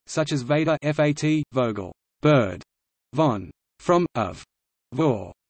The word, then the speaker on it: Vogel: V is pronounced f in a limited number of words of Germanic origin, such as Vader, fat, Vogel, bird, von, from, of,